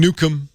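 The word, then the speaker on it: Newcomb: Twitter's fine I'm Nukem everywhere so Facebook Twitter Google+ just type in Nukem you'll find me a r o n NE wcom B the B is silent or is it it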